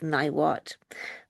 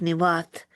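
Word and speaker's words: Niwot: You often will hear him called Chief Niwat. But I asked the uh Inonai chief and he pronounced it for me and it's chief nat and it means the one who is left-handed and he was a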